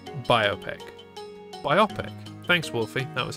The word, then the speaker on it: biopic: It's pronounced biopic.